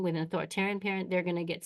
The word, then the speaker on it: authoritarian: Authoritarian rhymes with barbarian.